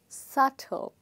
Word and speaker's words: subtle: So the word is not subtle, the word is subtle, and the word is also not subtle, which a lot of English speakers tend to pronounce, learners actually who are learning the language. So you would say subtle, okay?